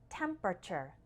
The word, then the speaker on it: temperature: temper temper easy right now the last part actually just sounds like sure in fast spoken English so we have temperature temperature temperature do you